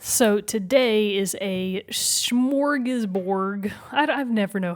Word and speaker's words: smorgasbord: Or smorgasborg? Now you've got me questioning it. Right? I would have said smorgasbord. Smorgasbord. With a D.